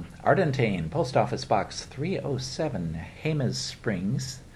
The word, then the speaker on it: Jemez Springs: post office box 307 Jemez Springs now that doesn't sound like it but it's spelled with the J it's looks like gems Springs Jemez Springs New Mexico 87025 call